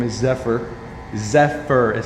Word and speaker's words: Zephyr: Zephyr is how you say it.